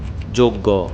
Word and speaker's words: যজ্ঞ: যজ্ঞ। এর উচ্চারণ হবে যোগ্য।